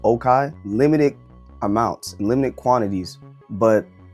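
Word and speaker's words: Les Cayes: Oh, you even got like Okai, but it's pronounced or it's spelled Lekai, but it's really pronounced Okai.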